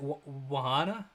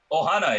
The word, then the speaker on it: Ohana: I think absolutely, and I totally relate to what you're saying about your how do you is it Wahana? Is that how you pronounce it? Ohana, yep.